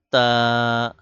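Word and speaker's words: ت: ঠোট থেকে বা দুই ঠোটের ভেজা জায়গা থেকে উচ্চারণ করতে হবে বা এরপর তা যেহেবার আগা সামনের উপরে দুই দাতের আগার সাথে লাগান তারপর উচ্চারণ করেন তা উচ্চারণ হবে জিহবার আগা সামনের উপরের দুই দাঁতের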